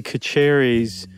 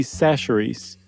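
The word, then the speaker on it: Chachere's: guys remember not but I mispronounced Tony kacheri's seasoning Creole seasoning it turns out it's Tony sacheries and Doug let me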